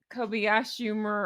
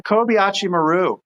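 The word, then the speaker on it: Kobayashi Maru: Uh, I wrote it phonetically. I don't know if I spelled it right. Is it co Kobayashimmer? Oh, the Kobachi Maru.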